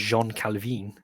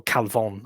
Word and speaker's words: Jean Calvin: it's French it's it's John Calvin is probably pronounced Jean calvine yeah crazy um or calvon I suppose but anyway um so